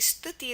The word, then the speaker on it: Stuti: It's not in the dictionary, so it's not going to be a word in spelling bee, but yeah, my name's Stuti, or actually Stuti is how it's pronounced, but Stuti, Stuti.